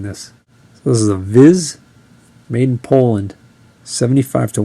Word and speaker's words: Vis: This one is a Viz. It's VIS, but I believe it's pronounced VIZ.